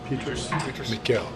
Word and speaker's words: Miguel: Miguel. I called the Michael, he was like Miguel, so I like that and make sure that pronunciation.